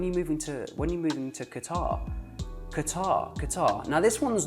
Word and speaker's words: Qatar: Qatar, Qatar. Qatar, Qatar. Qatar, Qatar. Qatar, Qatar. Do you want me to do it again? One more. Qatar, Qatar. Okay? Now I'm pronouncing it the Arabic way, but you'll notice that